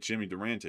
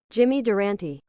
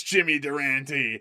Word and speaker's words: Durante: Yeah, it's like Jimmy Durante or something like that or Jimmy Durant. Yeah, I think it could be. Let me pull it up. How to pronounce Jimmy Durant. So, here it is. Here it is. We've got it. Uh, Jimmy Duranti. It is Jimmy Duranti.